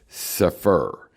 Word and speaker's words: Cepher: This introduction, this collection of writings in the Cepher, pronounced Cepher, is a restoration of